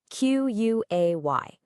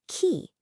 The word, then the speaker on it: quay: You see this word, Q-U-A-Y. Now your brain, which knows words like say and way, totally wants to say quay. Makes sense, right? But nope, the correct pronunciation is key.